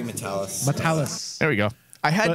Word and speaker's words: Matalas: hard especially since we've been calling him matalas for like a year now yeah here's his name right here my name is Terry matalis there we go I